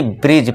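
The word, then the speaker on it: bridge: अब हमने रूल क्या पढ़ा? डी के बाद अगर आपको जी दिख जाए तो जी आ गया। तो अब यहां पे डी को नहीं पढ़ना। सीधा ही आपको बी आर आई जी ई यानी कि ब्रिज पढ़ना है। ठीक है दोस्तों? यानी कि पुल। ठीक है दोस्तों? डी को भूल जाना है। डी है नहीं।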